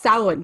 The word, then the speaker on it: Samhain: Yes, Samhain.